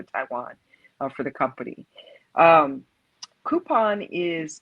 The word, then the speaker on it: Coupang: Um, Coupon it's spelled COUPANG.